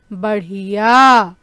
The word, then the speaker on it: बढ़िया: यहाँ पर हम क्या देख रहे हैं, ढ के नीचे हम एक छोटी सी बिंदी लगा रहे हैं, जिसके कारण इसका उच्चारण जो है बदल गया है ना बच्चों। और हम इसे कैसे पढ़ेंगे, बढ़िया।